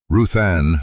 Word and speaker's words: Ruth Anne: Ruthanne looked down. Ruth, she said, then corrected. Ruth Anne, last syllable dropped low like stone into a dry ditch.